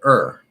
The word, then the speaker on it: or: that sound or but if it's not stressed it will almost always reduce to er okay so the word